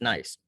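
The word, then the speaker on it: gneiss: rock hounds is the nice here and that spelled g-n-e-i-s-s pronounced nice um it is very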